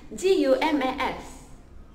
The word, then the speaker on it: Gumas: So dalam bahasa dusun adalah GUMAS.